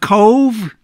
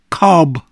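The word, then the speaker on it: Cobh: The town of Cove, down in Cork, on the south coast, is pronounced Cove, V-E, where the B-H is pronounced as V, not Cob.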